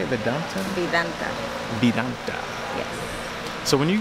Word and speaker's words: Vidanta: Vidanta.